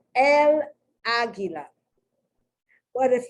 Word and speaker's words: águila: So the accent is on the first A, right? Now, according to the rule of the language, because it's 3 syllables, the accent should have been on gi, gi, gi, gi. But that's not how, you don't say aguila, you say aguila.